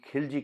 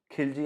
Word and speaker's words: Khilji: और आज के लेक्चर में हम दिल्ली सल्तनत के राजा अलाउद्दीन खिलजी के बारे में डिस्कस करेंगे। खिलजी या खलजी, दोनों ही राइट प्रोनाउंसिएशन है।